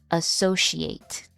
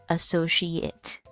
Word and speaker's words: associate: Our next word can be pronounced in two different ways depending on whether it is a verb or a noun and an adjective.